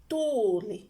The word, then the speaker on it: tuuli: For example, there is tuuli, there is tuli. They have two different meanings.